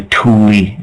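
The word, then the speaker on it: Thule: and the atlantans used to call themselves the Tuli uh the like T hu l e but pronounced t o l i e that's what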